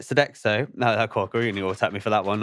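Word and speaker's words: Sodexo: And first starting at Deliveroo then moving to Sodo Sodex. Sedexo. Sedexo French company. That's it. Sedexo.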